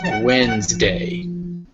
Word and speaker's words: Wednesday: large number of letters but it's actually just pronounced WS wday Wednesday next we have frightened F frightened frightened frighten